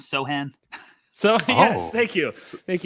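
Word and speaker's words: Sochan: pivot here by saying that the pronunciation is sohan so yes thank you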